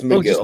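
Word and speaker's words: Megill: It's Tyler McGill. It's Miguel. McIll. Okay. Migill. Yeah, I know. Tyler, but Miguel.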